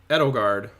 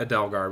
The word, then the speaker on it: Edelgard: is an Empire so Adele edelgard not Adele guard we've all been saying it wrong maybe some people have been saying it right but edogard is from